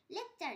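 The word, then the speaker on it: lecture: শব্দের টি থাকলে টি এর পর ইউ থাকলে টি এর উচ্চারণ চ হয়, যেমন লেকচার, LEC লেক, TURE চার লেকচার।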